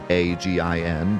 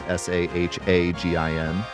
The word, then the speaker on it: Sahuagin: His name is based on the Sahuagin, I guess you could pronounce it, It's supposed to be Sahuagin, but instead it's Sahagin.